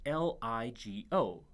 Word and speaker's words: LIGO: Corie whose acronym is lig Oh pronounced LIGO or sometimes legal these are two massively